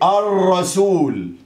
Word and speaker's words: الرسول: مرتين اتنين، يبقى هنا في لام شمسيه اهي، اللام اهي الشمسيه اللي هي مكتوبه بس ما نطقناهاش، ونحط حرف الايه الراء.